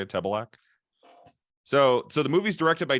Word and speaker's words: Tebelak: That's how you say it, Tebelak.